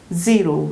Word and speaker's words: zero: 그러니까 소리가 정말 침과 함께 공기가 바깥으로 튀어나오는 게 느껴질 정도로 세게 Z 이렇게 발음해야 되고 제로라고 할 때 한국말로 제로가 아니라 zero 이렇게 되는 거죠. zero.